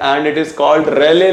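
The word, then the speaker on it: Rayleigh: और यहीं पर बच्चे एक लॉ है एंड इट is called रेले law, this is the spelling, so एल ई आई जी एच, रेलेज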